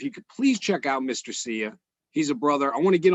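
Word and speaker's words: Mr. Cya: And the other guy is Mr. Sia, and it's spelled MRCYA, like see ya.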